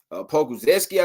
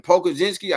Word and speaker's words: Pokuševski: Again, Pokuševski, I think is how you say his last name.